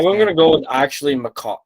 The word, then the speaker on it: Makar: I'm going to go with actually Makar. Like, is it Makar? Is that how you say it? Makar?